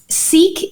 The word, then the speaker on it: Sikh: So Sikh is spelled S-I-K-H. Perfect. Okay. I am a Sikh. The same way we would say I am a Christian, I am a Muslim, I am a Sikh. And so is it Sikhism?